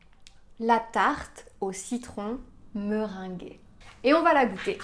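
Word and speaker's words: meringuée: son gu gu et donc on va avoir me ring la tarte au citron meringué et on va la goûter enfin je vais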